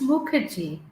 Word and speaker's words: Mukherjee: let me know if I said something pronounced it wrong and pronounce your last name for me. Yeah, it's Muki.